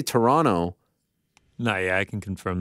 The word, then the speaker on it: Toronto: Because I say Toronto.